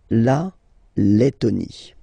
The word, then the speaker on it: Lettonie: So remember when you get this E and then a double letter like that, T, okay, then you will have to open your E and it will become E, Le, Lettonie.